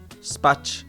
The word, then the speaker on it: spać: So C with an accent is like ch in China, except softer. Example, this letter is most often found in infinitive verbs like pić, spać, wstać. And this is pronounced Spać. spać. I guess to me it just sounds like ch, just like ch, like a regular ch sound.